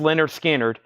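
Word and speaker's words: Lynyrd Skynyrd: 44.99 mofa mobile Fidelity Sound Lab Leonard skinnard pronounced Leonard skinnard 64.99 2 LP 45 RPM analog Productions elf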